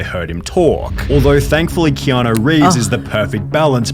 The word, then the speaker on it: Keanu: Although thankfully Keanu Reeves is the perfect balance between...